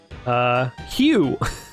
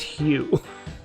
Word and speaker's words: Hugh: Hugh.